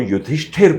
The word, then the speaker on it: युधिष्ठिर: लोग युधिष्ठिर बोलते हैं, वो युधिष्ठिर बोलते थे, पूरा करेक्ट प्रोनाउंसिएशन जी।